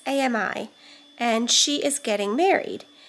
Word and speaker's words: Ami: has a twin sister I don't know if it's pronounced Amy or Amy it's Ami and she is getting